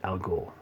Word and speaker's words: al Ghul: Roz or race however you guys want to pronounce it al Ghul and that's just nice just the way he's